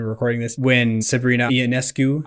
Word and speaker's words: Ionescu: recording this, when Sabrina Ionescu, I told you the wrong pronunciation when you asked me before. It's Ionescu? Yeah, Ionescu. But I always, when I read it, I just see Ionescu.